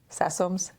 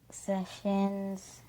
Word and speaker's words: Sessoms: for you is, do people always get that name right? Sessoms? You're shaking your head no. So what are some of the things that they say? Sessions. And it's spelled, y'all, Sessoms. And people say sessions, I would say 60% of the time, if not more.